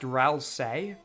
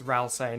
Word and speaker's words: Ralsei: It's pronounced Ralsei. No way, it's Ralsei, not Ralsei. Really? Ralsei. Hey, Ralsei. No, it's gotta be Ralsei.